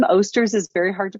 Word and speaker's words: Osters: So my last name, Osters, is very hard to pronounce. We talked about that earlier. Just people pronounce it oysters, osters, oysters I've gotten before.